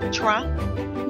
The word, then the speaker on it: Trang: So not channel, not trang. Yeah. It's because the way you pronounce it, like there's no R, yeah.